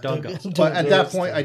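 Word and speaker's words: D'Agosta: Is it Augusta or Dugusta? Dugusta. Dugusta.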